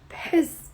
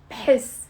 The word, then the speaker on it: بحس: بحس. It's one syllable. بحس. I'm not saying بحس. No. بحس. Put your lips together. B, and then say the h immediately. بحس. Almost sounds like a p.